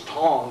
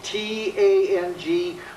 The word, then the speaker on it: Tang: This is Tong. It's spelled T-A-N-G with the accent. Remember, Tang is a breakfast drink. Tong, hands.